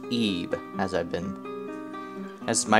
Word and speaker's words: Ib: we're going to be playing a game called ebah as you may think it's called it as I saw it for quite a while but it's actually pronounced Eve as I've been as my research told me